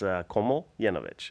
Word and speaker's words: Komljenovic: Komljenovic. It's actually pretty simple if you just simplify it in your head, right? It's Komljenovic, and you make that one long word.